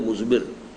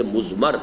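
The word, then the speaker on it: مضمر: ہے وہ مزمر ہے۔ عام طور پر جو ہے اس کو تلفظ ہم کر دیتے ہیں مزمر، اردو دان، لیکن یہ کہ اب آپ تو عربی دان ہو گئے نا، تو اس لیے آپ کو صحیح تلفظ کرنا چاہیے مزمر ہے۔ دوسرے حریت عمل ہے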